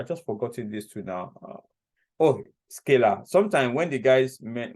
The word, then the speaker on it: Scala: Because it's easy to say scalar because scalar vector, but it was actually Scala that is called anyway.